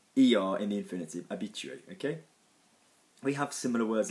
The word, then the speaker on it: habitué: the verb that Phil refers to which is a be chewy in the case of silent H sub H a bi T u ER in infinity a bit chewy okay we have similar words like habitual in